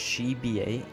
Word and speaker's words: Trzebiat: Okay, his name is pronounced Trzebiat, according to Cobalt.